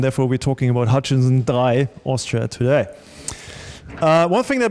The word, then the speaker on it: Drei: And he said, well, it's typically pronounced in the language that is spoken in the respective countries. So, and therefore we're talking about Hutchison Drei, Austria today.